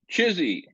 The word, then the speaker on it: CHSI: human superintelligence which forms the acronym chsi which we lovingly pronounce chizy and again Collective human